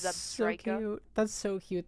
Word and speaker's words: Zebstrika: I've been saying Zabreska this whole damn time, and it's Zebstrika.